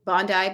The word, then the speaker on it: Bondi: No, I know Bondi Beach is how you pronounce it.